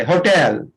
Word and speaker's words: hotel: हाँ, होटल नहीं, टल नहीं बोलिएगा, टेल बोलिएगा, टेल, होटल, टेल।